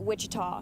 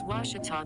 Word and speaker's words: Ouachita: at a baptist university back in texas everybody pronounces it wichita but really it's ouachita washington washington how would you pronounce it it's washita baptist university get it right it's water tall